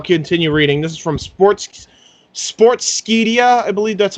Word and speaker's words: Sportskeeda: Yeah, Sportskeeda.